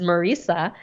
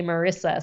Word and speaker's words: Marisa: So my first name is Marisa. A lot of people mispronounce it and say Marissa. So I say it's like Teresa.